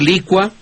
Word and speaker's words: licua: Y respecto a la primera parte, pues yo prefiero, como usted lo mencionó ya en otras ocasiones de redención de significados, decir licua, decir adecua.